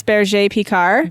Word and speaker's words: Berger Picard: Well, the way you're supposed to say it is Berger Picard. Berger peacock.